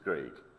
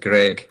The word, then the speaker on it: Greig: Uh it's Greig. Greig, I apologize. It's cuz it's EIG as opposed to IEG. So, not like the musician Greig.